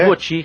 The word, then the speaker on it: Ivoti: Mas a pronúncia correta Ivoti. Ivoti aqui no Brasil.